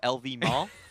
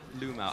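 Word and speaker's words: LvMao: It is very hard to pronounce in Mandarin for English speakers because I don't think confirm. that... Yeah, that definitely does not exist Definitely looks English. like a V to me. But it's Lu Mao.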